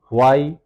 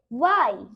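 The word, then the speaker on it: why: আর আমরা সাধারণত বলি হোয়েন, এর উচ্চারণটা কি হবে? ওয়েন। ওয়েন। আর যদি বলি হোয়াই, ওয়াই।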